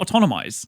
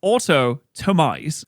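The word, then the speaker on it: Autotomize: Wait, it's not autonomize. It's autotomise.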